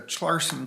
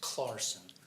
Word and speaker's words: Chlarson: front scharon your honor it's clarson just pretend the CH is a k oh well thank you a silent h if you will clarson thank you for the